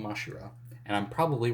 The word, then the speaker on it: Mashira: it I think it's it's spelled masira in the translation here but I think in the anime it was mashira so I don't know I'm gonna call him mashira and I'm and I'm